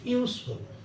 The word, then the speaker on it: useful: এই যে এ লিখছি আমরা, এখানে ইউ এর মতো উচ্চারণ হয়েছে, ইউজফুল।